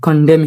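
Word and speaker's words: condemn: gate king furious and কডম হিম কডম এখানে এন এর কোন উচ্চারণ নাই এটা কন্ডেমন না কডম যেমন আমরা বলি ওকে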